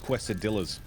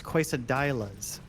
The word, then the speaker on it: quesadillas: Like quesadillas. Oh, dude, those are so good. No, those are, yeah, that's not how you say it. It's quesadillas.